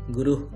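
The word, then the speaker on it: গুরুঃ: গুরুহ হালকা হাওয়ার মতো বের হবে, গুরুহ ব্রহ্মা।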